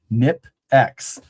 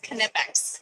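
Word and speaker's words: Knipex: You say the K. It's Kipex.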